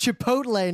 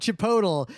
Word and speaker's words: Chipotle: I mean, I remember we got an email from a dude in like 2006 who was like, guys, it's pronounced Chipotle, not Chipotle.